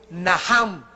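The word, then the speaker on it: נחם: La primera palabra que se usó en el Antiguo Testamento es Naham, en el hebreo que se escribe Nacham. La CH en el hebreo se pronuncia como J, y significa cambiar la manera de pensar.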